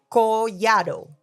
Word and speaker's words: Collado: All right, please help us welcome to the show tax strategist Collado. Am I saying it right? Collado, yes.